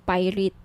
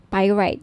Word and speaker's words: pyrite: gusto niyo ng bracelet ito ung pirate pyrite sorry pyrite yung iba pronunciation pirate pir right Okay 1,980 each may